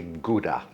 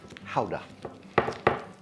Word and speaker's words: Gouda: I know some people say Gouda, but apparently it is properly pronounced howa and the how can go somewhere between the hummus and the Mexican dip.